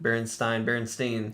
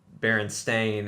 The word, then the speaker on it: Berenstain: A, and the bottom it says the Berenstein spelled with an E. I just said it even weirder. I said it wrong. Berenstein.